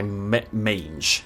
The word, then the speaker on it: mange: but one afflicted by mange. Mange, that's how you pronounce it right.